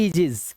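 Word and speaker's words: aegis: यह देखिए इसे हम ए नहीं पढ़ते। ए इसे पढ़ते हैं एजेस। क्या पढ़ेंगे? एजेस।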